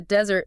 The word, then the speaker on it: desert: But if you're talking about the dry land, the desert, the stress shifts. It goes to the first syllable.